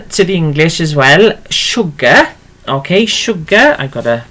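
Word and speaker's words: siwgr: It's written like that. Sugar. Okay, like that. But we tend to pronounce it as sugar.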